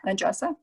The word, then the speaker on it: Andressa: My friends Elizabeth and Andressa, did I say it right? Yep, Andressa.